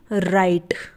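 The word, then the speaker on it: write: आर आई टी ई राइट इसे हम क्या पढ़ते हैं राइट पढ़ते हैं डब्लू इसमें साइलेंट रहता है यानी डब्लू का इस्तेमाल नहीं किया जाता तो इसे क्या पढ़ा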